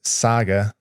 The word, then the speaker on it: Saga: flare um vatic Pro Saga I when I first got it I SKT saying Sega is it Sega or saga Saga it's Saga I've been saying it wrong uh and then there's